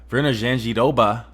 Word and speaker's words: Virna Jandiroba: Co-main event, Virna Jandiroba.